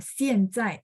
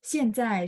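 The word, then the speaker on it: 现在: Ada beberapa tempat di China itu dia baca 现在, itu baca 现在. Ada. Bacanya benar-benar A. Tapi itu nggak semua tempat. Nah, kalau kita lihat ejaan dari 中国中央电视台, 中国中央电视台就是 CCTV. Kalau teman-teman nonton berita CCTV, mereka pronunciation-nya IAN ini bacanya sedikit E.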